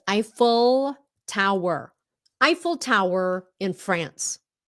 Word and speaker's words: Eiffel: a difference also stress Tower IUN I think that's the way Vietnamese normally say is IUN because they see the L and they they turn it into an N Stop if it's English it's Eiffel Tower Eiffel Tower in